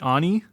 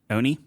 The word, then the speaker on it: Oni: I probably mispronounced this. The Oni? Oni? Oni?